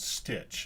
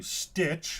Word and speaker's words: Stytch: we are introduced to stitch I assume that's how it's pronounced s-y-t-c-h how else would you pronounce it uh One Stop